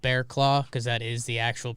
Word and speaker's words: Barraclough: say we've been excited that it's been called bearclaw because that is the actual pronunciation but if you saw if you saw